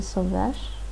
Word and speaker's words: zoveš: With T, the verb ends in the sh sound.